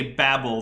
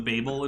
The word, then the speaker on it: Babel: should point out that it's probably better to say Babble than Babel in terms of pronunciation all right thank you